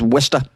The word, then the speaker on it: Worcester: You might have heard of Worcester because it's spelled in a way that doesn't look like it's pronounced as Worcester.